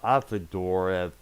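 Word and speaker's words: Auf der Maur: and I guess it got the former bass player from Whole Melissa at the door that's how our last name is pronounced she was briefly in that group for a short while before they disbanded that same year 2000.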